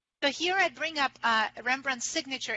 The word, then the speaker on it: Rembrandt: It was simply written as Rembrandt, which would be pronounced either way. It's identical pronunciation if you add the D or take it away.